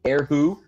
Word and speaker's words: erhu: Is it Eru? I think now there are a couple of different pronunciations. Eru is one of them. Sometimes I hear the H aspirated, Erhu, but I think multiple pronunciations are acceptable.